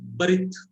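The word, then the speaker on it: בְּרִית: Yeah, because of the dagesh, the pronunciation is hardened. This is shortened pronunciation. B, w. In Marathi, it is a very similar language. In Marathi, we can clearly say w, to, w. And here also, barit. Clear pronunciation is B, not V.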